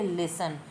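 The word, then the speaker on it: listen: ई एन मतलब लिसन इसमें T silent है इसको हम बोलेंगे लिसन और इसका मीनिंग भी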